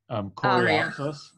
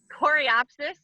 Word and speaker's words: Coreopsis: other one, Pastor, help me out, I always mispronounce it. It's like Coreopsis. Coreopsis, yes.